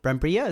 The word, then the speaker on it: Brambilla: Brambilla?